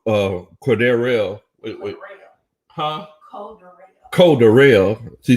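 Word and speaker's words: Cordarrelle: Cordero Patterson, he looked legit. Well, Coach Ronnie says Cordero. Wait. Huh? Cordero.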